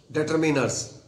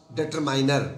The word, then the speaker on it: determiner: I am very particular about the pronunciation of this word, determiners. Some students tend to call it or pronounce it determiner. Determiner is wrong. It should be pronounced as determiner, right?